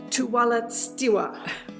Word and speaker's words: Tuwalestiwa: known to her fans I'm here with Judy tualet stwa how did I do perfect that's a hard name to pronounce very hard name okay and Caleb what's